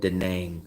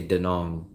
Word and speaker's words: Da Nang: heard anyone call it dang except for travelers I've never heard a local call it hey come over here to dang they always say denong like rhyme rhymes with Hong Kong Hong Kong Dong all we're saying is